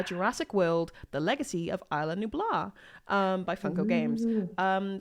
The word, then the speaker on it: Isla Nublar: have to correct you it's isla nublar i made the same mistake what everybody else who played this game because it's a very specific pronunciation oh well look here's